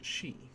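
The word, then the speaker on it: し: Pronounce this one as she.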